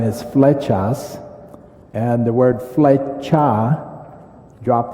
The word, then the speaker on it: Flechas: for and then my last name is fetas and the word feta drop the s means